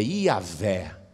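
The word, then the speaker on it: Yahweh: era transmitida apenas oralmente por isso que a pronúncia correta dessas quatro letras se perdeu nem sabe direito como se fala é o nome de Deus o mais aproximado é ia ver mais aproximado e a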